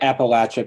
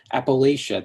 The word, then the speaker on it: Appalachia: Moth Man pronounces Appalachia I say it Appalachia because there's a latch in it and everyone who hasn't lived here rushes in with a correction Appalachia they say as if the latch has too much power as if it needs to be dashed out like the O in God as if they are